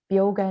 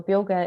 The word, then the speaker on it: Beoga: Instagram and Facebook at bioga nutrition.ie is their website so bioga is spelled b-e-o-g-a it's uh Irish for vitality um so you can